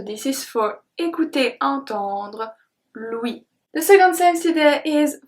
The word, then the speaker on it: l'ouïe: The sense is called l'ouïe. L'ouïe. L'ouïe. You remember when there is tréma on the E, that means that we have to pronounce the E. So here you can read it like ou-I, l'ouïe, l'ouïe, l'ouïe.